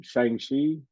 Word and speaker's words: Shang-Chi: How do I pronounce the Marvel one? Shang-Chi.